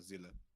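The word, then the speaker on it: Seele: Zila. Zila? That's how you pronounce it. Yeah, Zila. Soul in German.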